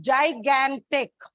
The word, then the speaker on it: gigantic: Now, coming to stress marking, the word gigantic, if you check this, it's a trisyllabic word. Gigantic. When you pronounce it, there is a slight stress on the second syllable.